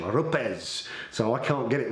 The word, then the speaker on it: Rupes: haven't but it's pronounced RZ so that's the Italian pronunciation RZ so I can't get it right so if I say rupes forgive me um what